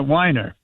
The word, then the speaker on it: Wiener: This is Scott Wiener or maybe he pronounces it Wiener. He is a state senator or something in California. it's Wiener.